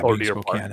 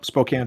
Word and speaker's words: Spokane: don't really get into uh in this yeah Spokan in this no Spokane for sure um and it it you know